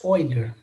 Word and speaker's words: Euler: para vocês olha é um matemático alemão Lemos other mas se escreve Euler então o nome dele